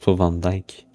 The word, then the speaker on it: Van Dyke: Puis Ivelisse contre Dorian Vendox qui est je pense sa première apparition depuis Ça se prononce Van Dyke.